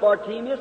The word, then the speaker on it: Bartimaeus: We know him in the Bible as Bartimaeus. Many pronounce it Bartimaeus. Either way will be all right.